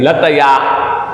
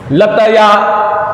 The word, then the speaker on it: लतया: लतया, यूं नहीं कि लत्या, लत्या, लत्या नहीं होगा, लत्या में तो आधा जाता है, इसलिए इसको उच्चारण करेक्ट करें, लतया।